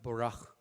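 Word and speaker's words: בָּרַךְ: 이걸 조금 발음을 더 정확하게 하면 보락 이렇게 돼요. 그 중동의 언어로 하면.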